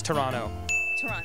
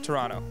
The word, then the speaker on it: Toronto: never you never emphasize second team so it's Toronto Toronto yeah because it's like you know you don't